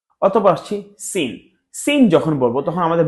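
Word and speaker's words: س: অথবা আসছি সিন।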